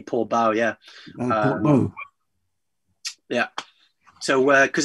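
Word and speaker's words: Portbou: I think it is pronounced Port Bow, apparently. Well, actually, I think the French would say Port Bou because it's OU.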